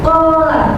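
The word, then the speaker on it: قال: Huruf alif pada kata qola didahului oleh berharakat fathah sehingga harus dibaca panjang dua harakat. Cara membacanya yang benar ialah qola dipanjangkan dua harakat.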